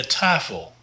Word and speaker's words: tafel: De tafel. De tafel. The A here is long, and that's because we've got a vowel, consonant, vowel.